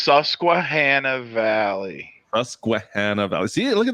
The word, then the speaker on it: Susquehanna Valley: Okay, we need the name first of all, because I can't pronounce it. Okay. It's Susquehanna Valley.